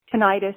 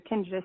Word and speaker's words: tinnitus: You took my question earlier on the tinnitus, and I know a lot of people are affected with tinnitus or tinnitus, however you want to pronounce it.